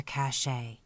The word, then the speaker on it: cache: were Mighty busy Chipmunks in their cache to use the Western term that rhymes with today meaning a hiding place